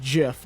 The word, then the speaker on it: GIF: My favorite Spider-Man like GIF, I guess, is the one It's where pronounced Jif, Jake.